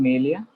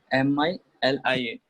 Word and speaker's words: milia: Ma'am, Melia. Yes? Melia. Can you spell it out? MILIA.